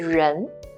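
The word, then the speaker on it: 人: with the longer left curve left stroke it's pronounced as ren here it's it's being this means person we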